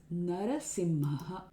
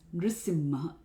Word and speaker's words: Nṛsiṁha: Here we cannot use Narasimha. This particular verse is in the meter Upendra Vajra. It has 11 syllables. If we elongate Nṛsiṁha to Narasimha, we will actually change the meter. The number of syllables increase. So it's Nṛsiṁha.